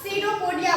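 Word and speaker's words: pseudopodia: क्या बोलते हैं उसको सिरोपोडिया बोलते हैं क्या बोलते हैं सिरोपोडिया यहां पर देखते होंगे पी लिखे हैं हम तो कभी भी कंफ्यूज मत होइएगा यहां पे पी क्या है साइलेंट है सिरोपोडिया लिखा हुआ है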